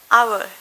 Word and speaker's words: hour: the Albi there in our pay for v-cube one I'll be there in another meskipun tulisan our ini diawali dengan ha tapi tetep bacanya diawali dengan A Karena itulah kita pakainya